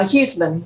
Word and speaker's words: Houman: versus Sarah hman and am I pronouncing her name correctly depends uh houman your honor houman all right could I